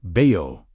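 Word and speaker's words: בעו: Next, move into BAYU, pronounced BAY-OH, to seek, search, or pursue.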